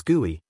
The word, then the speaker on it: GUI: A user interacts with a program through its a graphical user interface or GUI pronounced as GUI.